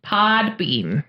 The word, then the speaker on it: Podbean: Podbean. Yes. I may be saying it wrong, so people are going to put Podbean with the M. No, it's the N, like a bean, like you would eat.